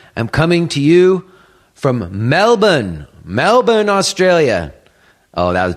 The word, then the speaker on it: Melbourne: say it real fast they don't say Melbourne you know like it's spelled it's like Melbourne you have to say it really fast so I don't know